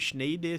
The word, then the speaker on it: Schneider: Se escreve Schneider, se fala Schneider.